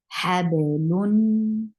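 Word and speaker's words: حبل: The second noon is actually noon sakin. So whenever noon sakin is being pronounced, the sifa of the wasat has to be applied. Hablun.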